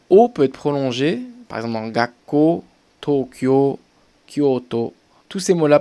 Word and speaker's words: Tokyo: peu plus bien sûr vous allez pas dire tokyo mais vous allez un petit peu plus le prononcer vous avez pas dire tokyo mais tokyo tokyo voyez c'est pas pareil tokyo plus haute attention kyoto c'est que